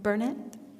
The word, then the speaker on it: Bernett: mispronouncing your last name which is not uh Bennett it is Bernett thank you uh so